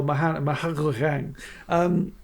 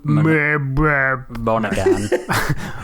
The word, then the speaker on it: Monaghan: Casey Affleck and Michelle Monaghan. So, how'd you say it, Nige? Michelle Monaghan. Monaghan. No, you don't pronounce the G.